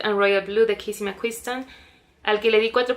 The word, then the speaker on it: McQuiston: puntos cinco estrellas y en el blog de la pasa diciendo machista en vez de mac winston porque me salió louis para no hablante pero se pronuncia macuixtle team mandes a whitman